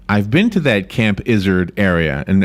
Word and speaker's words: Izard: So it's like the word lizard without the L, but add a Z.